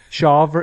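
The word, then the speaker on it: Smith-Shawver: I'm going to rely on your pronunciation, Michael. Shaver.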